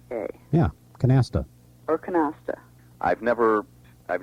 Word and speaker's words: canasta: with a flat more English or angelized a canasta and this is what happens with words when